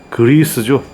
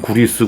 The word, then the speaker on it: 그리스: 이게 뭐냐면 굴이 있습니다 그리스죠 일본식 발음 구리스 그리스 그게 전에 내려와서 지금도 구리스라고 하는데 그리스가 맞아요 greas인가 뭐 요 그리스도